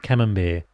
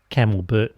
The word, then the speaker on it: Camembert: "That's how they do it in Melbourne," she said to her sister. "All fancy like, Camelbert and wine." I have a giggle at her mispronunciation.